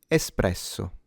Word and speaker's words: espresso: The R is slightly trilled, but you don't have to exaggerate it and turn it into. No one says it that way. Espresso.